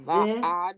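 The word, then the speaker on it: ועד: The Va'ad. ad. The ad. The ad, because the second one's ayin is silent, and the dalit.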